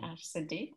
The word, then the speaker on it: Ash Seddee: Did I pronounce that correctly? Ash Seddee, perfect.